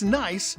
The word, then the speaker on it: Nice: It's nice in Nice. It's spelled N-I-C-E, but pronounced like the daughter of your brother or sister.